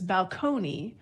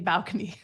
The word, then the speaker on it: balcony: make you sick because when it was borrowed in from Italian the stress was on the second syllable it was balcone but English as a Germanic language we often move the stress to the first syllable so it became balcony so this this happens